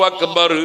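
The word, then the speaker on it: أكبر: ഇനി നമ്മൾ ഉച്ചരിക്കേണ്ടത് എന്താണ് അക്ബർ ഞാൻ നേരത്തെ പറഞ്ഞ ഉച്ചാരണം എങ്ങനെയാണ് അള്ളാഹു അക്ബർ അള്ളാഹു എന്നതിനു ശേഷം ഉച്ചരിച്ചത് വാ എന്ന വാവാണ് ഉച്ചരിച്ചത്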